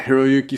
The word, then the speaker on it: Hiroyuki: um how do you say sonata's first name hiroyuki yeah hiroyuki Sonata yeah that's my man he [ __